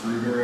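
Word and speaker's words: Schröder: So this is a German thing. It's pronounced Schroeder, I think. If you're typing it on a keyboard and you don't have that symbol, they'll probably pronounce. They usually replace the O with OE. So you might see that in some text, right?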